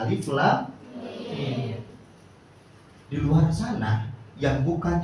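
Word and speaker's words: الم: Tahu bacanya gimana? Alama. Alama lagunya Skipedia. Salah enggak? Salah. Salah. Baca Al-Qur'an tadi. Quran surah Albaqarah ayat pertama adalah alif lam mim.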